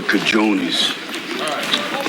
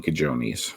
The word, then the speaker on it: cojones: There's no way Rocky should be saying cajones because he never saw it written down. If you saw that written down, you would mispronounce it if you didn't know the J sounds like an H.